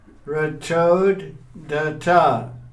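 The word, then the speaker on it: रथोद्धता: Ratodata. Yes. You have to pronounce each D.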